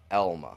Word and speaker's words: Alma: It's Elma, not Mm, Alma. It's Elma. Elma, yep. Even your literature teachers are going to tell you that an A and an L make an L sound.